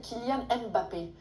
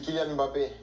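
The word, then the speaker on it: Kylian Mbappé: Il y a énormément de français qui vous appellent Kilian Mbappé. Est-ce que c'est comme ça qu'il faut prononcer ? Ah non, j'aurais beaucoup de travail si je devais corriger tout le monde. C'est Kyan Mbappé.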